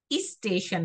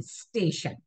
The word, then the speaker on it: स्टेशन: जैसे हम स्टेशन लिखते हैं तो आधा सा से शुरू करना है उसको, स्टेशन नहीं, स्टेशन। वो जैसे आप इंग्लिश में